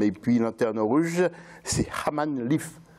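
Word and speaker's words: Hammam-Lif: Et puis Lanterne Rouge, c'est Haman Lif. C'est comme ça vous le prononcez? Hamamlif. Hamamlif. Hamamlif. Oui.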